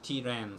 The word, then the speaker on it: tren: They don't say train, tren, they say tiren, so they put I in the middle.